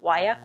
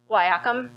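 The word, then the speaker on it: guaiac: cure for Syphilis is the wyak wood um am I pronouncing that right botanists g-u-a-i-a-c okay I see some nods wyakum okay um so that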